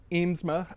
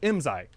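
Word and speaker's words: IMSAI: It's very similar to the IMSA, or IMSI. That's it, IMSI. Trying to remember how to keep the pronunciation straight.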